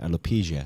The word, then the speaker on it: alopecia: You know, that's how you pronounce that word, alopecia.